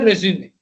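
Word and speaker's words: résumé: What is a resume? What is a resume? You pronunciation wise, it's called resume, which is a French word, Latinized French word that says, I introduce myself professionally.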